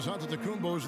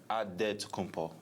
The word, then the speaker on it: Antetokounmpo: The Nigerian way, you gotta say it with a D, so it's Antetokounmpo. But in the Greek way, you say it with an NT, like Antetokounmpo.